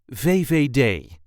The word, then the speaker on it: VVD: This is the way we say VVD.